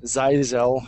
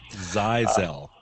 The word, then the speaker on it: ZyXEL: okay so the big change recently was the size l I finally found out it's pronounced firewall size l size l I thought of a couple of those switchers